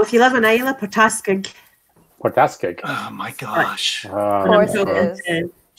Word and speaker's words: Port Askaig: So if you live in Islay, Port Askaig. Port Askaig. Oh, my gosh. Of course it is. Chanel's on the move. I'm charging. Port Askaig. Port Askaig is probably.